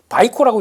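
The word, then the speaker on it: Vicor: 그러다 보니까 이렇게 많이 올랐다고 하더라도 우아 하는 거보다는 그냥 이해를 그렇게 해 달라라는 쪽으로 보셔야 될 것 같고 바이코라고 읽죠.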